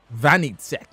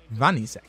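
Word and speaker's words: Wanitzek: Vanitzek. So the W is pronounced as a V in German. Like Weghaust. Vanitzek.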